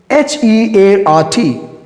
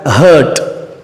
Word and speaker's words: heart: Most of the people mispronounce this word as hurt.